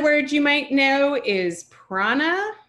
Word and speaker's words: Prana: if you know um the clothing brand Prana you notice they make the a in the middle a capital A and they make it a capital A because it's meant to be a long a sometimes you'll see a long a written with a capital Prana but again notice this is a retroflex n so the tongue should be behind the teeth Prana um you may